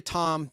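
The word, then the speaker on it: Thom: Tom mcke T hom it's really Tom H is silent Tom mcke as a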